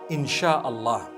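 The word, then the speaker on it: Insya Allah: a they pronounce it they pronounce the s y the way we pronounce sh so they can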